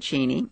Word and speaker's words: Cheney: dear it's a bagel so you pronounce it at this point geny yes and and Dick's family always has said cheny uh most people say Cheney I think it's out